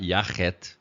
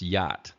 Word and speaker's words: yacht: just translating the sound so for instance for yacht you might be tempted to put a a in there um that makes the CH sound but don't do that all because it's not yaket it's yacht so all we're doing